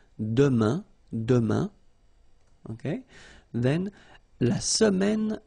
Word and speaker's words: demain: For the future now, we've got demain, and it means tomorrow. Demain, remember, when you combine this A-I-N, you get the sound un. Demain, demain.